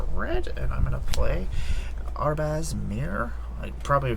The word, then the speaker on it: Arbaz: Let's tap one white and let's tap this for red, and I'm gonna play Arbaz Mir. I'm probably pronouncing this completely wrong. Arbaz?